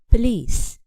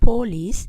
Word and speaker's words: police: contains zeshwa the pin also the noun police has the schwa in the first syllable so we can't be stressed we cannot say for lease but we stress instead the second syllable with length police i repeat never stress